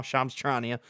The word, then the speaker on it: Shams Charania: I know how to pronounce it now, Shams Charania.